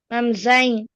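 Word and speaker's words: Sie: This is I sound. I. Uh-huh. Do you see that? How do you pronounce this? I see raised Sei. hands, but it's this for Nidish. Once again, Sei.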